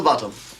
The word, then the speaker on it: Botham: sir but it's spelled both them and it's pronounced bottom I've just told him that and all thank